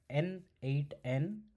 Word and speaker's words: n8n: It's pronounced as N8N which offers a node based visual editor.